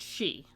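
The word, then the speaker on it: sidhe: that pronoun is pronounced she why because irish gaelic does not conform to european orthography rules or english orthography rules which are also not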